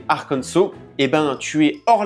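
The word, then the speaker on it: Arkansas: En gros, si tu prononces Arcansas, donc en disant le s, au lieu de prononcer arcanso, et ben tu es hors la loi et tu pourrais même finir en prison.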